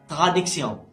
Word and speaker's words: traduction: As you can see, Tion at the end of the word, it's pronounced sion, not shen. Okay, so it is traduction.